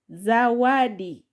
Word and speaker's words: zawadi: I've taken here syllable za plus wa plus d to get zawadi. Zawadi.